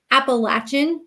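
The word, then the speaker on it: Appalachian: I went to college at appalachin State University uh down in bu North Carolina many of you pronounce it differently but that's the right way uh is appal how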